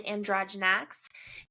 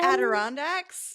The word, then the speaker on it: Adirondacks: It's the Adirondacks. That's what I said, the Adirondacks.